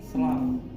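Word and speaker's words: slough: Apabila warnanya kuning namanya SLAF. Tulisannya slow. SLAF ya bacanya.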